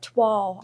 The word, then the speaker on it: toile: Yeah, and you wouldn't because it's Toile. You And would it's think French. It's toil. Yeah, Yeah, it's toile. French, isn't it? Toile. Like it's supposed to have a W in it.